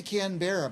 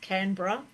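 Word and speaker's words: Canberra: born and bred here I say can bear but I'm saying it wrong uh yeah look Australian accent we slow everything so just canra canra and what it's about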